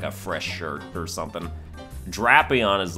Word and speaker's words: Drapion: good then we got drapion which I always thought was drapion but it's not it's drapion and I'm I don't know